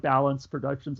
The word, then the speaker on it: Balanz Productions: you pronounce it um its balance production spelled ba la and but let's say like balance productions I guess balance productions it's just like the first part of my last name my last name isn't